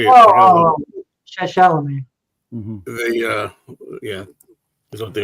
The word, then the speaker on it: Chalamet: Oh, Chalamet.